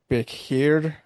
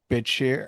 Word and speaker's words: Bichir: It looks like it has like a hard T sound and then an SH. Bitshir, something like that.